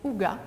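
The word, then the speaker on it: hygge: aussi s'inspirer de la tendance danoise yg qu'on prononce aussi aux gars qui s'inspire justement de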